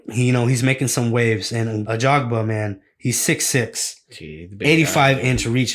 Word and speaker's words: Ajagba: Ajagba.